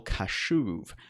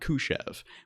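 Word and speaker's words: Kashuv: what it's called also Kyle cashew not Koosh EV which really the difference in pronunciation may not seem that important but I think it actually is that's the correct pronunciation of that individuals name and it was stone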